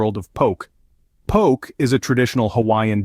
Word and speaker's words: poke: poke in the bowl if you've been saying poke is in joke you've been doing it all wrong the correct pronunciation is poke isn't okay a funny little anecdote to remember